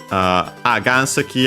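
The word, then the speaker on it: 岩石: Ganseki accent on the first mora, yeah, the second most common accent for Chinese compounds of the...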